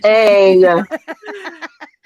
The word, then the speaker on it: Aang: It's pronounced Aang.